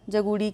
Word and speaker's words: जगूड़ी: अगला प्रश्न है निम्नलिखित में से कौन सी रचना लीलाधर जगूड़ी की नहीं है? जगूड़त्री यहाँ पर लिखा है, इसको इस तरह से उच्चारण करिएगा, जगूड़ी।